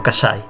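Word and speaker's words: Cassai: En italiano se pronuncia diciendo Casai.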